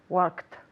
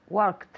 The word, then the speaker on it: worked: the past of work worked good with the with the tea one more time worked excellent so worked as a tea work ed don't say that worked yesterday i worked